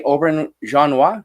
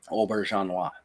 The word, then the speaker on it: Auberjonois: But that actor, Rene I'm good luck pronouncing his name in French. Rene Auberjonois, is that right? Auberjonois, something like that.